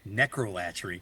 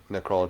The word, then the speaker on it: necrolatry: I've been pronouncing this name wrong for many years because of the abhorrent song, vulgar. I've been calling it necrolatry because that's the way he says it in the song.